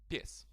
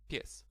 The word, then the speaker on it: pies: Pies, right? One syllable. There's only one syllable. Okay, in this word. Once again, pies. P-I-E-S. Pies. And in this case, you can actually hear like those letters.